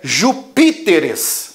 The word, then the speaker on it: Júpiteres: Só que eu não posso falar Júpiteres. Por quê? Por causa da sílaba tônica. Ó, última, penúltima, antepenúltima, pré-antepenúltima. No português não existe sílaba pré-antepenúltima tônica. Então eu tenho que deslocar a sílaba tônica para ficar na antepenúltima, para continuar uma proparoxítona.